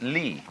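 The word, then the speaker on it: 理: They pronounce it Lee.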